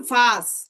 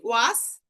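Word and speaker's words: was: এই যে ডাব্লু, ডাব্লু কে বলা হয় ভে। যেমন ভাস, এটা আমরা ইংলিশে কি বলি ওয়াস। ওয়াস, সেটাকে কিন্তু বলা হয় ভাস।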